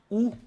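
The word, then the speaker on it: וּ: j'aiécrit tout à l'heure ça devient ou ou u voilà comment on le prononce nous allons utiliser une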